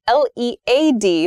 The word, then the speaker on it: led: verb is lead l-e-d-l-e-d lead has the same pronunciation as the noun form of l-e-a-d lead as a pencil material and led past tense of the verb lead it's very confusing I'm